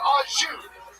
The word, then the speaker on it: au jus: A French dip is so luxurious, that shit comes with no dipping sauce, and that dipping sauce is pronounced au jus.